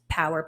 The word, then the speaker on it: PWR: It's pronounced Power, PWR, Performance Wellness Recovery.